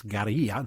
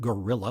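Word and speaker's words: guerrilla: military in Cuba and yes it's Gia not gorilla like Mighty Joe Young but we Americans are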